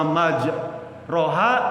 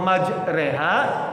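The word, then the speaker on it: مجراها: Allah maj roha wa saha gitu ya. Surat apa tuh? Nuh ya. Surat Nuh ya. Itu salah bacanya. Harusnya dibaca Allahumma majreha wa mursaha. Namanya imalah.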